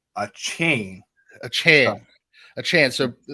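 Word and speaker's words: Achane: he wants he want he wants to be called Devon a chain not a chain so I I've been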